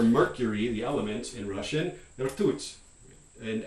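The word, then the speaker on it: ртуть: This is the word for mercury, the element in Russian, rtut. And I'm not pronouncing this beautifully, but it's my closest approximation, rtut.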